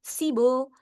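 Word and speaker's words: 십오: Jadi ee berdasarkan pengalaman biebnya ini tuh dia digabung bacanya sama o jadi sibo.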